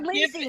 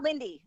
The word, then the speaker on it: Lindsay: No, you call her Lindsay, not Lindy.